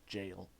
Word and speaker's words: gaol: Or right, I think it's pronounced jail. It's just a weird spelling of it.